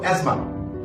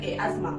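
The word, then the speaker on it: asthma: ইংরেজি শব্দে টি উচ্চারণ সাইলেন্ট থাকে অর্থাৎ কি উচ্চারণ হয় না সে সমস্ত শব্দগুলো নিয়ে আপনাদের সামনে হাজির হয়েছি বৃষ্টি মানে পড়ো এজমা এস টি এইচ এম এজমা দর্শক বন্ধুরা আমরা কিন্তু দেখতে পাচ্ছি বানানোর মধ্যে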